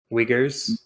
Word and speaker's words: Uyghurs: How do you say it? Uyghurs. Uyghurs. Okay. The yogurt.